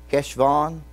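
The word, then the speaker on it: חשוון: in the month of Kesavan that's how you say it cash gone you know that was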